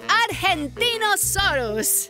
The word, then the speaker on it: Argentinosaurus: the Argentinosaurus. Whoa! That is a big name for a big dino. I have to break it up to say it right.